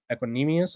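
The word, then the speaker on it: Equanimeous: Brown's podcast, which is with Amon-Ra Equanimous, I believe is how you say it.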